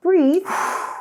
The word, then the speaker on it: breathe: Breath 这个名词呢是气息或是呼吸的空气。那刚刚 Pat 有提到屏住呼吸是 hold your breath。那当我们紧张的时候，可以 take a deep breath，深呼吸，缓和紧张的情绪。那动词呢，也就是呼吸的动作 breathe，字尾有一个 e，而且发音不一样哦，要小心。所以啊，我们说到蚊子可以侦测我们的体温 body heat，还有我们气息里面的二氧化碳。And the chemicals in our sweat.